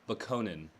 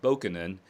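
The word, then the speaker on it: Bokonon: It's Bakonin. Yeah, okay. Yeah. So Kurt Vonnegut himself pronounces it Bakonin and Bakoninism and Bakoninist, which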